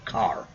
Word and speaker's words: char: That's type char, C-H-A-R. Some books will call them car. I don't know why, but I've always pronounced the H myself.